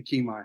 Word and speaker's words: Kimi: to the show thank you thank you you pronounce it Kimi you're good Kimi you said that you got you know what